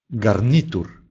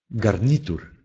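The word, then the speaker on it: garnitur: Звук «г» звонкий, но если он стоит в конце слова, то он оглушается. Посмотрим, как произносится этот звук. «Г» – гарнитур, гарнитур, костюм.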